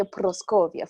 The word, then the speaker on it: Proscovia: Facebook page proscovia or I say proscovia for people to to be able to know how to pronounce it okay they can inbox